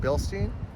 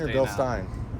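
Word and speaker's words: Bilstein: for a factory suspension billstein is that how you say it billstein or is it Bill Stein I say Bill Stein billin never know cuz it's German right it is so it's like Stein is it do you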